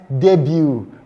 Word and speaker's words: debut: Because in our lesson we said this sound has a silent, it's pronounced buffet, it's pronounced ballet, and it is pronounced debut.